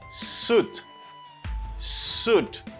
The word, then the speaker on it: suit: to pronounce both vowels no you cannot say shoot you should say suit like double double o suit suit it's not suit it's suit and the same way